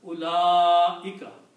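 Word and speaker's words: أُولَٰئِكَ: on the alif and you have to pronounce this alif long.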